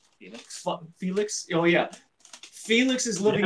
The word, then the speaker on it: Felix: Felix.